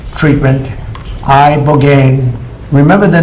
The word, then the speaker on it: Ibogaine: It's called Ibogaine treatment. Ibogaine. Remember the name. Is that pronounced relatively properly, would you say? Yes. I don't want to get it wrong. Ibogaine cuz it's so important.